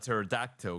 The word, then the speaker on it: pterodactyl: Why can't you hear a pterodactyl go to the bathroom? Why? Because the P is silent.